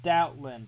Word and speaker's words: Stoutland: It's Stoutland. I called it Scoutland.